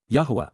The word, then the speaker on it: Yahowah: Yahowah, the proper pronunciation of the name of Eloah.